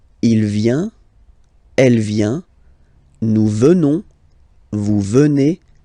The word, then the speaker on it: venons: Nous venons. Okay? O-N-S, classical ending for nous, okay? Final S not pronounced, so O-N, on, venons, venons.